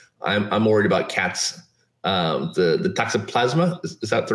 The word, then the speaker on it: toxoplasma: The toxoplasma, is that the right?